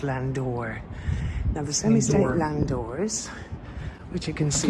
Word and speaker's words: Landau: yes yes here we have the semi-state Landau it says there but it's actually pronounced Landor us which you can see you pronounce that